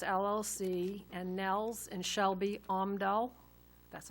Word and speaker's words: Omdal: The next motion should be to approve a loan to Frosty's Donuts LLC and Nels and Shelby Omdal, that's how you pronounce it, in the amount of $100,000 with